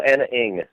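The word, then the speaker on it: Ana Ng: A-N-A-N-G. How do you pronounce that? Oh, Anna Ing. N-Ing? Is that it? Yeah, Anna Ing.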